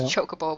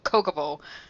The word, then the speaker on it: Chocobo: ] say it's and I know it's Chocobo but it keeps coming out coca Bowl like it's a [